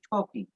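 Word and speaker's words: talking: ইফ উই are only টকিং এখানে দেখো উচ্চারণ করছি টকিং ওই যে এল আছে এল থাকলে তোমাদেরকে বলেছি ও উচ্চারিত হবে ইফ উই আর অনলি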